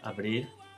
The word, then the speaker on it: abrir: This fricative sound is also a present when there's a consonant cluster. So the verb to open is pronounced abrir, mother, madre. And the verb agradar, how does that sound? Agrada. Exactly. Again, with fricative sounds.